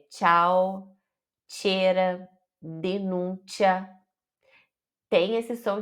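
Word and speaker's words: ciao: muda a palavra imagina cau O que que é Cau agora tchau Você já sabe o que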